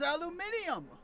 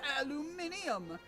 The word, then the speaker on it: aluminium: that in Europe they refer to it as aluminium.